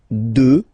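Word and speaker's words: deux: 2. Final X not pronounced, okay?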